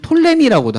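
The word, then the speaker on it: Ptolemy: 다스렸던 왕조가 들어보셨죠 프톨레마이오스 보통 이제 영어 성경에서는 피를 빼기 때문에 영어로는 톨레미라고도 합니다 근데 피가 묵음이어서 그렇지 원래 헬라어로 읽으면 프톨레마이오스라고 하거든요 그래서 프톨레마이오스 톨레미 왕조하고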